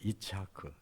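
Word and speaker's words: יצחק: 이름을 이라고 저라 그랬는데이 이삭이라는 말이 이츠학 그 원어가 뭐라고 되 돼 있냐면 이치 하라고 돼 있어요 이츠하크 이걸 우리가 우리 말로 읽을 때 이삭이라고 읽는 거예 이치하 이게 웃는다는 뜻인데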